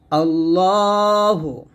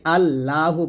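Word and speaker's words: اللهُ: রাজিম বিসমিল্লাহির রাহমানির রাহিম আল্লাহু দেখুন আমরা এখানে প্রথম ভোল্টে করি আল্লাহু বলি এটা আল্লাহ বলবেন না যদি বাংলা আল্লাহ লেখা আছে তবে আরবি উচ্চারণ করতে হবে আল্লাহু এ হা পেশ এখানে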